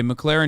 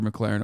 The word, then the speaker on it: McLaren: they should take your McLaren away or it pisses me off because he says the name wrong like eight times in a row it's not McLaren it's McLaren Okay so okay we're moving